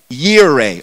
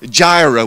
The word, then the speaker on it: Jireh: There's a name we give to God, and it's the name Adonai or Yahweh Yireh or Jireh, we would pronounce that.